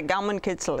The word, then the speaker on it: Gaumenkitzel: All right, so how's my Gaumenkitzel? Is that? Your pronunciation is excellent.